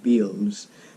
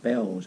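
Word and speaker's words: Bealls: there's a shop called bells being a a LLS sounds not Beals it's pronounced bells I believe it's basically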